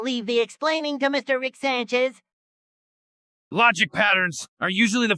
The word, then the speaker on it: Rick Sanchez: I have a special guest it's um uh Rick San cheese what a tasty name it makes me hungry for cheese it's Rick Sanchez say it properly oh I'm sorry Mr Rick